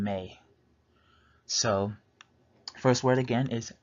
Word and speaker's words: me: go break it down the first word is pronounced may like the month it's spelled me but you pronounce the e at the end with an a sound like you would in May so first word again